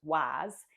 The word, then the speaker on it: Walls: town um that I mentioned that's called uh Walls or locally it's pronounced Walls.